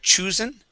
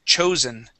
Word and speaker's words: chosen: here it is so You' pronounce it as H choosen okay the word is chosen okay chosen yeah one